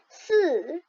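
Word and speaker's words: 四: 4 en chinois, ça prononce si. Le ton doit baisser.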